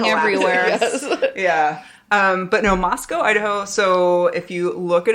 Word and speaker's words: Moscow, Idaho: This story takes place in Moscow, Idaho.